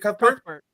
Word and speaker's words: Cuthbert: Cuthbert.